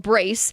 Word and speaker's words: BRCE: It's called, you pronounce it Brace, but it's BRCE.